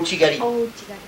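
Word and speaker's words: uchi-gari: Uchigari ou chigari ouig. Uchigari. On prononce pas pareil en France, on utilise Gali Gali le R le reali en France. Ouais. Japon gali.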